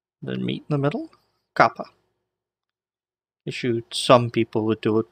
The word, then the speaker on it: kappa: Alright, so we'll start out with the next letter in the list, Kappa. Kappa. Alright, now, Kappa makes a K sound, so it sounds like a K.